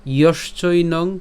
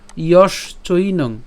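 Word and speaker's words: যশ্চৈনং: এরপর ইয়শ চৈনং, অর্থাৎ আমরা এখানে তালব্যস পর্যন্ত উচ্চারণ করছি ইয়শ, এবং বাকি যে অংশটি আছে অর্থাৎ চৈনং, ইয়শ চৈনং।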